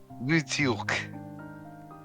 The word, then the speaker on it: Woo Deok: It's Yu Hobin and Woo Deok. So What? just that's how you pronounce the name.